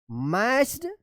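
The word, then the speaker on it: matched: lock, LOCK, lock that मैच्ड इट। देखिए यहाँ पे मैच में ईडी लग गया है, MATCH, यहाँ पे टी साइलेंट रहेगा।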